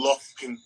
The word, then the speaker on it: Lufkin: Don't pronounce every letter. Lufkin. That shit got like Look 5 it up. F's in it.